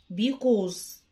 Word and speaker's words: because: لأن because، حرف السي بينطق كي because because. حوالي أو تقريبا around around around.